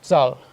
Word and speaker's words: Zahl: E acontece que inteiro em alemão começa com Z, pronunciado Zahl.